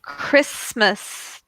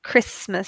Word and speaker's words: Christmas: very good exactly bicycles and then Christmas Christmas so that's a cut Christmas at the start so yeah and then